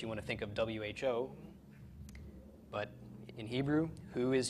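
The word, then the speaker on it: הוא: okay this is a perfectly legitimate sentence Adam who bah okay Adam he is coming it's not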